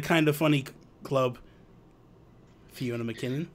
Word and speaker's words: MacKinnon: do I pronounce it McKinnon he could like just kind of like a silent a um but it is